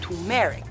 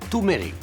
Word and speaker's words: turmeric: The spice agent reports on turmeric. Nadia, it's pronounced turmeric.